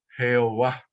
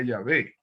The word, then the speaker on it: Yahvé: va a decir Adonai, pero los traductores cuando vieron esas vocales allí creyeron que era así que se pronunciaba y entonces pusieron Jehová. Sí, así que si queremos pronunciar correctamente el nombre de que aparece de Dios sería Yahvé.